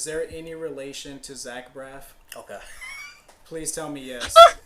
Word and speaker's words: Braff: No, but it has been helpful to point out Braff like Zach Braff because my last name gets misspelt or mispronounced all the time.